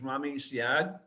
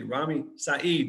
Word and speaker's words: Rami Saeed: row his name is rami syad uh ramya uh excuse me rami saeed excuse me i mispronounced your name sorry rami saeed and